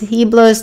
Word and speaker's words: Heblos: His name is Heblos. The H is silent.